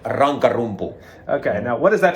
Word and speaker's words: Rankarumpu: Can you pronounce it for me? It's called Rankarumpu.